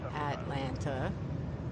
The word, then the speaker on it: Atlanta: how do you say Atlanta how many syllables Atlanta three how else would you